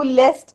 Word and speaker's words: liest: तो अभी जैसे आप यहाँ पे देख सकते हो, डू लीस्ट, यहाँ पे स्पेलिंग चेंज हुआ है. ऐसा नहीं रहा है इश लेजर डू लेस्ट, ऐसा नहीं है, लीस्ट.